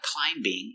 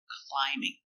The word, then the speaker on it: climbing: But remember, the B is silent. It's not climbing, it's climbing.